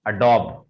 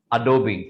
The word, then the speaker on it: Adobe: This is नॉट अडॉब। बहुत सारे लोग इसको अडॉब अडॉब अडॉब बोलते हैं, but actually it इज नॉट अडॉब, this is अडोबी। This is Adobe. Once again, the pronunciation of this word is Adobe.